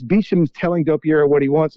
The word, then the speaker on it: Beauchamp: So you brought up the name George Beecham. It's spelled Beauchamp, and it's apparently pronounced Beecham.